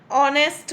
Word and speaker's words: honest: Now the next is an honest man. Again H is silent here and O is the sound.